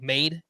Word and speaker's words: Made: the Milwaukee Brewers and that's spelled like maid Jesus made m a d e I mean just Jesus